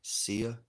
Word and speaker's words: Sia: Sia, SIA.